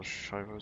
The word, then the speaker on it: Schiefer: They're all Schiefer stairs, or cobblestones. Oh, Schiefer stairs. The E and I is flipped in Schiefer. It's different pronunciation to English.